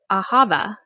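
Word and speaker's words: אהבה: started and you said love in hebrew is ahava am i pronouncing that right that's right okay and i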